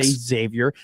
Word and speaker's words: Xavier: Xavier is a big deal and we were taught it's not ex you just say Xavier but I've never been